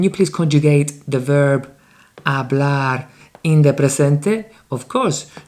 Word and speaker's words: hablar: A very important thing to notice, verbs in the infinitive, hablar, they have the strong syllable at the end, always.